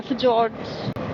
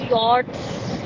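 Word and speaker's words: fjords: फुज्स फुज्स नहीं मिलेंगे। That's pronounced S यॉर्ड्स।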